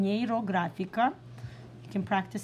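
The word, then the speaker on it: Нейрографика: neuro graphic art and he took the term neuro graphical Neera graphical this is how you say it in Russian Nero grafica you can practice saying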